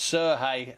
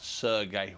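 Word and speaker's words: Serhiy: these are ukrainian pronunciations so it's jeff hen not evgeny and it's sir hey and not sergey we do appreciate the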